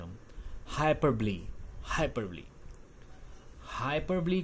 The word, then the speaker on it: hyperbole: हाइपरबॉल बोलते हैं, बट इट इज़ नॉट हाइपरबॉल और बॉले, इट्स हाइपरबली. ओ is silent over हियर, सो use in this manner whenever you are using this figure of speech.